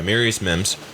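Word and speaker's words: Amarius Mims: that say his name right mirus yes okay mirus Mims offens The Tackle out of Georgia he is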